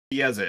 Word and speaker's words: Chiesa: Hold on, I'm still pronouncing her name wrong. Chiesa is what she said.